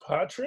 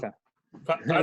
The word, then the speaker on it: Paitre: I am here with, and I'm going to murder this last name, Patre. Yeah, How do you pronounce Petra.